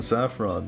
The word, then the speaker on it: Saffron: Saffron. The accent is on the A.